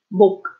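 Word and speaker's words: 몫: So if it ends this way, you only pronounce the first one. Okay. For example, that's a word, 목, 목.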